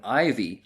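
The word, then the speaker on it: Iveagh: Ivy E A G H is how it's written down, but pronounced Ivy.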